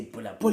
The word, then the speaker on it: Bulabula: b u l a it just doesn't have the H as per tradition but when you pronounce it you say bu bu you pronounce it as if there was an H but you you write it as if there was no age you know the the